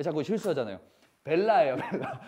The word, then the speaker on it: bella: 베이아 뭐예요? 베이아. 베이아래 자꾸. 이거 봐. 왜 자꾸 실수하잖아요. 벨라예요, 벨라.